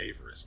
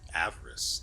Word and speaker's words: avarice: find the freaking thing where is it averis that's it avarice that's how it's pronounced I want the balance